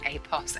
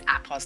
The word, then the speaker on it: Apos: And by the way, appos, I know on the video I was saying apos apos. It is apos like an apple.